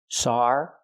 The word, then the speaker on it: sarcasm: sarcasm she means sarcasm we need a short ass sound like black cat for the second syllable Chasm remember this word has three syllables sarazm it looks like two syllables but it's three sarcasm not sarcasm but